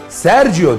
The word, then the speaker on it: Sergio: Unutmayın, Sergio diye okunur, Sergio diye yazılır.